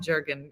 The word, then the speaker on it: Jurgen: I was like it's Jurgen jur jur nobody say how do you say Jurgen that's what I was saying so it's because you don't pronounce the G as a hard so it's y so I've been calling